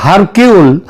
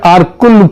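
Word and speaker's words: Hercule: Agatha Christie এবং তার গোয়েন্দা আরকুল পোয়ারো, এটা যদিও ওই উচ্চারণে এটা হয় হারকিউল, কিন্তু অ্যাকচুয়ালি উচ্চারণটা হচ্ছে আরকুল পোয়ারো।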